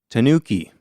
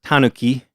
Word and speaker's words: Tanuki: And today our topic is the Tanuki, aka the Japanese raccoon dog. So this word is pronounced Tanuki in Japanese, but we're going to pronounce it Tanuki because we're Americans. And that's how Americans pronounce it.